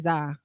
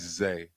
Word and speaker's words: Zah: Okay, I respect that, but my name is Zay, but it's just spelled Z-A-H.